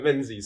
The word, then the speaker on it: Menzies: I've always wondered how to pronounce that because it's quite unusual. Yeah, Menzies. So many people get it wrong.